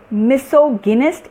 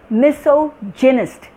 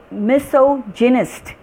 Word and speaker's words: misogynist: And this is, the P is silent, it is psych, psych. And this is not misogynist, it is misogynist. It is misogynist.